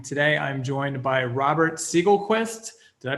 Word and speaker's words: Segelquist: doing awesome marketing today i'm joined by robert siegel quest did i pronounce that correctly yeah yeah you're right